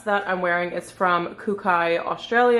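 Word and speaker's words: Kookai: after this dress that I'm wearing is from kukai Australia it's spelled k-o-o-k-a-i I love their clothes I love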